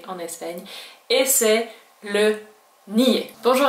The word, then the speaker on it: NIE: le N I e en espagnol on le prononce nier puisque ce sont les lettres aé I et et